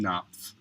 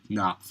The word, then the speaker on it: Knopf: So hopefully this man, Wyatt Knopf, how do you pronounce it? Knopf. Okay, good. Knopf.